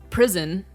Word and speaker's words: Priston: Despite it says Pristin, it's pronounced prison for some reason, and it has like a prison sort of lore to it.